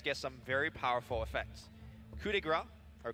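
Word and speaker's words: coup de grâce: Coup de grace, or coup de grace, as it's a correct pronunciation, in Slax's hand most likely will 100% take out that Luna.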